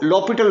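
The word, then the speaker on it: L'Hôpital: Spelling इसके हॉस्पिटल के हैं जी, पढ़ते इसको लॉपिटल रूल हैं.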